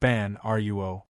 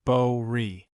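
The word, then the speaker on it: 般若: It's not pronounced ban ruo. It's pronounced bo ri.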